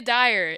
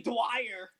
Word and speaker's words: Dyer: I didn't want to get her last name wrong and have you be like, it's actually Dwyer. That's what Dyer. Dwyer instead of Dyer.